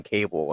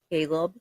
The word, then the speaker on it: Caleb: I keep wanting to call him Cable, and I know it's not it. Caleb. Yeah, that.